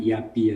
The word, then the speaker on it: IABEE: Ya, kita biasanya menyebutnya dengan IABI aja Mbak.